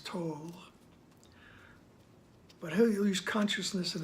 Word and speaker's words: Tolle: such as Eckhart Tolle, however you want to pronounce that. I think the correct is Tolle.